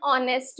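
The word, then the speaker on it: honest: एन ऑनेस्ट मैन।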